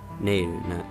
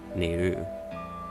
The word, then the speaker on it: Nayru: It's and in this case that the extension of the ne sound may indicate that the accentation goes on the first syllable, Nayru, so it's not neeru or something, which would sound kind of odd.